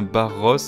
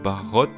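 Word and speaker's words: Barroth: Alors on prononce bien Barros et non Barrot, donc le TH à la THE comme en anglais, se nourrit de fourmis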